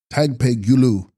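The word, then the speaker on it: dag-pa'i-lus: text dag pahulas pronounced tag peeulu pure or shining illusory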